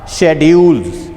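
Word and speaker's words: schedule: Next है हमारे पास शेड्यूल्स आर स्केजुअल्स। वी can pronounce शेड्यूल आर स्केजुअल्स।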